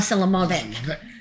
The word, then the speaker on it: Selimovich: Did I say it right? Selimovich. Oh, Selimovich.